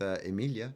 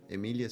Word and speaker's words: Emilia: It says Emily, but you pronounce it Emilia with a little Emilia. Like the Swedish chef, but not quite that hard, you know? Emilia! Not that much. A little bit.